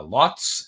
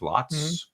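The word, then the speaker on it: Lhotse: right is it uh lotz l-h-o-t-s-e the e is silent i believe lots and the other one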